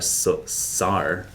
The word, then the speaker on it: sawyer: That's like, it's spelled S-A-W-Y-E-R, SAR.